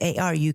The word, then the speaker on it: Aru: It's A-R-U creative, but how do you say it? Aru creative.